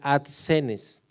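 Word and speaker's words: ἀσθενής: Esa palabra enfermo viene de una palabra griega que se pronuncia adsenes, y adsenes indica fragilidad, debilidad, enfermedad.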